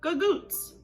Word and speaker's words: Gagootz: And just like we've seen with many other words, that hard C in the original Sicilian has become softened and turned into that G in the Italian American. And that's how we got to Gagootz.